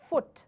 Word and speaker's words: foot: have actually analyzed it this word takes the long vowel sound which is your you sound like they've just discussed so this is your food and then we have second word as foot that is a short sound the you sound the shot o sound is this this particular word so once again it's